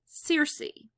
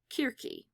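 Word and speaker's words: Circe: of the enchantress enchantress Searcy or querque that would be the Greek way of pronouncing it Searcy is what you tend to hear more in popular culture okay so Odysseus once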